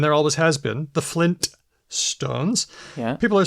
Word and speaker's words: Flintstones: that's the thing like I don't think I've ever pronounced the tea in Flintstones sorry the first te in Flintstones um but I've always known it was there yeah so what's going